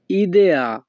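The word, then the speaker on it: idea: একটা বুদ্ধি দাও এই বাক্যের ইতালিয়ান ভাষা হবে দাম্মি উন ইদেয়া। এখানে আই এর উচ্চারণ হবে ই।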